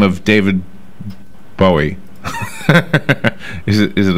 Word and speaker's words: Bowie: I say Bowie, a Bowie knife, but it's Bowie.